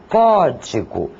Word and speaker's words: código: Por exemplo, a palavra código. A intensidade maior é dada na sílaba có.